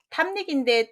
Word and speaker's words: 탐닉: 답은 자 탐닉인데 또 여기에 보시면 약할락으로는 이제 안 하셨죠? 익사할 때 한번 배웠으니까 닉 발음으로 해야지 익 발음으로 두음 법칙을 적용하면 안 되겠습니다. 뒤로 오면 니은 발음 그대로 살려줘서요.